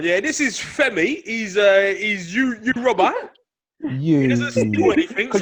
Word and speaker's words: Yoruba: Yoruba. Yeah. Did you not know that's how it's pronounced? And Igbo. Look at Jimmy's face. There's capital G in there. Yoruba.